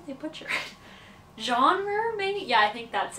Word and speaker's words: genre: trouble with that word because it comes from French and in French we say Jean but in English when a word comes from French in English they tend to butcher the pronunciation and I want to